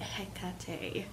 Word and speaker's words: Hecate: in there is not how i pronounce it pronounce it Hecate goddess of magic that's what they say right